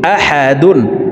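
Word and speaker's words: أحد: দুই জবর ওয়ান, কুফুয়ান, হামজা জবর আ, হা জবর হা, আহা, দাল দুই পেশ দুন, আহাদুন, দালকে ওয়াকফের ক্ষেত্রে সাকিন করে ফেলবো। আহাদে, দাল যেহেতু কলকলার হরফ নিচের দিকে ধাবিত করে ধাক্কা দিয়ে সাকিন করব।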